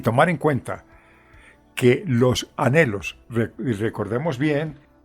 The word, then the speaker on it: anhelos: palabra anhelos Recuerda que la palabra anelos se escribe con N y con h intermedia que es muda porque tiene el mismo pero es una consonante y se podría leer elos pero para leerla de corrido anhelos Gracias hermano David porque